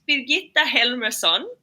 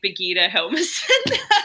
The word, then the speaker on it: Birgitta Helmersson: Well, okay, so it's Birgitta Helmersson, but you don't have to pronounce it like that. I grew up in Australia, so over there they say Birgitta Helmersson.